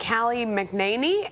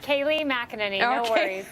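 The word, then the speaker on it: Kayleigh McEnany: fox news contributor and callie mcnainy of a political prospect founder i'm sure i butchered your last name tell me how to say it correctly i apologize don't worry kaylee mcinerney all right i'll get it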